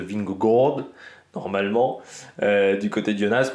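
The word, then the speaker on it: Vingegaard: bon tout le monde dit à peu près ving Gard en réalité il faut dire une sorte de ving g normalement du côté de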